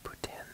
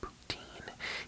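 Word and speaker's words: poutine: things like that yes I say ptin because that is how you say it you do not say it poutin you say it ptin because it's a French word but um we got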